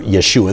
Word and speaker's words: Yeshua: But in the Hebrew, his name would be Joshua or Yeshua. They don't pronounce the J.